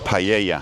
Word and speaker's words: paella: And the double L is like a Y. A Y. Like paella.